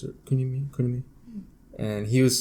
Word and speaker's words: Kunimi: That's how you pronounce it. Kunimi.